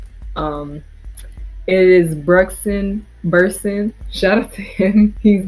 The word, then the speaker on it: Brugsen Bursen: Um, it is Brugsen Bursen.